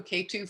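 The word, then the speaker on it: Ketu: is spelled r-a-h-u and k-2 is not k in the number two you know like the mountain it's a key k-e-t-u k-2 so rahu is north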